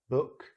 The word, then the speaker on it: book: Book, foot. Much shorter. So be careful with these double O's. It could be that long vowel or it could be that short vowel.